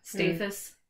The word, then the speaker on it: Staithes: We've been saying it wrong for a long time. We've been saying it wrong for months. Yeah. Staithes.